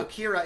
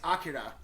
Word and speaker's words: Akira: It's not Akira, it's Akira. First off, that's what tripped